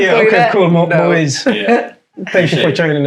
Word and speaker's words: Muiz: 2 syllables, 4 letters in English, 3 in Arabic. Yeah, okay, cool. Muiz.